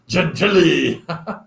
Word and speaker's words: Gentili: And Sarah Corrs doesn't know how to say his name properly. It's Jimmy Gentili.